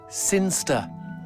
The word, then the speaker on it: Sinchester: Sinster. What? It's pronounced Sinster. How do you know? My cousin's from Sinster.